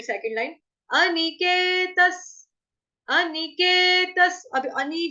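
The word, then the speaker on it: अनिकेतः: अनिकेतस, स जो है क्यों आया विसर्ग को उच्चारण स से क्यों किया, क्योंकि आगे स है ना, स्थिर मतिर, स्थिर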